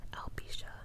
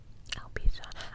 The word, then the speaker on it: alopecia: I think you pronounce it Alopecia. Alopecia.